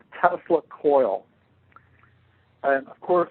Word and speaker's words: Tesla: across a term called tesla coil and of course i pronounced it telsa coil i had no idea